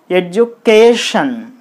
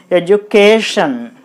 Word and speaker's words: education: Then, it can be pronounced as education. Education.